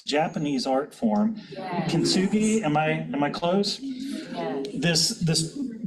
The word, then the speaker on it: Kintsugi: But then a couple of you also sent me this idea, and I can't remember and pronounce the name, but it's Japanese art form. Yes. Kintsugi, am I close?